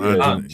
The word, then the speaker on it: Ange: Whatever calls him Ange.